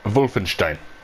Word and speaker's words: Wolfenstein: I look like Wolfenstein. What? Jamie, it's German, so it's pronounced Wolfenstein.